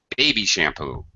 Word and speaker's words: baby shampoo: So in other words, we pronounce it like a compound noun, like baseball, airplane, notebook, high, low, with the syllables, one high and the next one low.